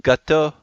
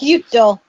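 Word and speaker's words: ぎゅっと: I think it's actually what? Gutto? I think is how it's pronounced. Gyuto. Gyuto? Yeah, Gyuto. that's right. It's the onomatopoeia for hug.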